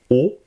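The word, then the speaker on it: を: Ya, ye, yo, wa, o. Attention, le W on ne le prononce pas. C'est vraiment comme si nous avions qu'un O.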